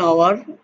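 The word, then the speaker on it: hour: ফলো some example, an আওয়ার, এখানে এইচটা সাইলেন্ট আছে, অ্যান অনেস্ট, এইচ সাইলেন্ট,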